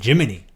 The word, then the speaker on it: Gemini: I find it annoying that he pronounces Gemini. Jiminy. Well, I will say about that that the actual astronauts who flew on those would have said Gemini.